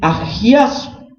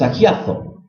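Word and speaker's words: ἁγιάζω: Y la palabra santificación en el griego se pronuncia en agiazo, con Z, ¿no? Como hablan los españoles, agiazo, ¿no?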